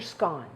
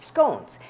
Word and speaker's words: scone: we're going to make lemon ginger scon or maybe you pronounce it scones and this is what